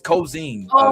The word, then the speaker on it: Ko'Zeine: All right, these words sometimes they're hard to pronounce. Ooh. Ooh. Can somebody Cozine? Oh, Khionian? The name of the episode is Cozine.